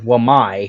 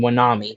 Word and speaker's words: Wamai: I can put the actual clip on instead, but Gabe didn't know that Wamai was named Wamai. He kept on saying Wanami, Wanami, Wanami, Wamami. Like he didn't know how to say it.